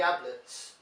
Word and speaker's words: Ablett: these EES called Gary Ablett named after the ex Liverpool and Everton defender whose name rhymes with tablets but if you have